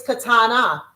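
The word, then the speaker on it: קטנה: If you're saying it's the youngest the youngest the youngest in the family it's katana ending with an a.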